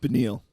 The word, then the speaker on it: Beneil: Don't forget, Benail Darush, how do you pronounce that? Beneil.